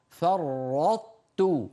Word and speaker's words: فرطت: فرطت، فرط، تنطق طاء غير مقلقلة، فرط، ثم بعد أن تنطقها بهدوء بتحول لسانك إلى مخرج التاء، رطت، ويعني تطبق على طاء، فرط غير مقلقلة، أؤكد دائما، ثم تجافي لسانك عن تاء، فرطت، أحطت، بسطت، فرطتم.